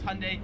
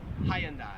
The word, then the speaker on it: Hyundai: wrong pronounce it as hyundai americans make it like two syllables like hyundai australians three syllables hyundai now 40 and 41